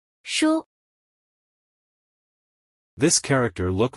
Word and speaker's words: 书: This word is pronounced as follow. Shu.